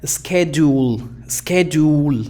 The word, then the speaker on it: schedule: Entonces aquí, al saber eso, no vamos a cometer el error de pronunciar schedule, no, sino schedule, fíjate.